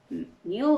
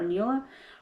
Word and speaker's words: Neale: It's Neil or Neela Hurston.